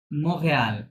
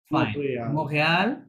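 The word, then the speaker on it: Montréal: follow me follow me মাঝে যে টিটা আছে ফরাসিতে ওটার উচ্চারণ আসবে না ওটা সাইলেন্ট থাকবে ঠিক আছে ওটা উচ্চারণ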